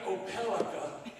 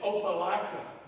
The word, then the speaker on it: Opelika: And her husband said, "Well, I'll stop, but that ain't Opelika, it's Opelika." Well, she says, "That's not how it's spelled. It's spelled Opelika.